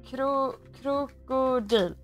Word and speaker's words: Krokodil: Krokodil. That's how you say it in Swedish. Or in general Swedish.